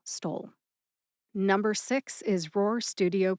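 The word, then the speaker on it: Stoll: S T O L L Stole. Number six is Roar Studio Productions. Roar is spelled R O A ROAR.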